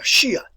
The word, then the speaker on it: Shia: you write that too now the word is pronounced and listen to my pronunciation here shiites shiites it is easier and i i'll shift over to this more often than not a shia shia all right then we